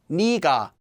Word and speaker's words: 네가: However, this would also sound the same as 내가, so this is more often pronounced as 니가, although that doesn't affect the spelling.